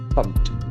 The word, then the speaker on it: pumped: p e d so Ed endings after that P will be T basically pumped Pumped pumped to pump